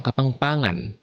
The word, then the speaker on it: Kapampangan: Ang panglimang diyalekto naman ay ang Kapampangan. Ito ay ang pangunahing diyalekto ng nasa gitnang Luzon lalo na sa Pampanga, pati na rin sa Timog Tarlac at ilang bahagi ng Bulacan at Bataan. Bigkasin natin. Ka-pam-pa-ngan.